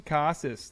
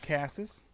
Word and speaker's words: Casas: five Stone bases Tristan Casas learned how to say his name not Casas Casas we're back baby dog